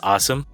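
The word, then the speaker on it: OSEMN: uh it's pronounced awesome however that's how it's spelled and it stands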